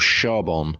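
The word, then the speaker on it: Charbon: have enjoyed the most a b called Shon I'm not going to embarrass myself and try and pronounce the Belgian brewery's name but it's Shon c h a r b o n and this is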